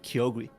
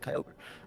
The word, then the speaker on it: Kyogre: they did pronounce Kyogre Kyogi. Yeah, but that's just the poker rap. That's not back when for kids was fixing it. But in the actual show, they did pronounce it Kyogre.